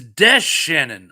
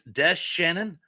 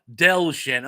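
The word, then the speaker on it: DeShannon: It's Des Shannon. I've been pronouncing it wrong all these years. It's Des Shannon. I've been thinking of Del Shannon.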